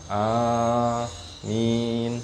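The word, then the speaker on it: آمين: sunah berikutnya yang keempat mengucapkan Amin a panjang minj ang Amin Apa maknanya allahumastajib Ya Allah ijabahilah Bolehkah dibaca Amin boleh enggak giriril magdubi alaihim wadin Amin boleh Enggak amin amin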